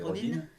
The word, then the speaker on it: Rodin: ça s'écrit Rodin, mais ça veut être comme l'américaine, c'est Rodin.